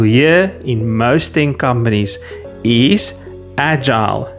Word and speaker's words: agile: The standard pronunciation and what you'll hear in most companies is agile. Soft J sound like the J in jump. Long I sound like the I in while or mile.